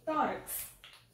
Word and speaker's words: tórax: Tórax. Tórax. Nós falamos como tórax, não é? Então, aí nós temos o tó como a sílaba tônica.